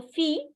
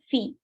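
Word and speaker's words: filles: go ahead Fe so fee you don't have to pronounce the ending consonant in English uh in French okay so it is s so you don't have to pronounce s just say fee okay fee so how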